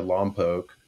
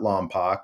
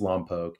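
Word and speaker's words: Lompoc: grew up in a small town in California Loke uh not Lomo I know Vin Diesel says it in the first fast in the Furious but he pronounced it wrong it's Loke it's about two hours north of uh of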